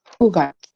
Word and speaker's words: kugatsu: I also rarely hear people say kyugatsu because for number 9 you have 2 ways of reading, which is kyu or ku. People use ku more, so this one is also better to remember. Kugatsu. It's not kyu, but kugatsu.